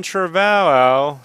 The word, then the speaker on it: Trevorrow: nonsense right um Colin Trevorrow Trevorrow is that what is it Trevorrow so how you pronounce it revoir au revoir oh rich why don't